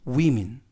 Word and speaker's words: women: 뜻을 갖고 있습니다 탄수 는 움 암 복수는 위민 펄스 하면 사람 한 사람을 나타냈는데요 개인 한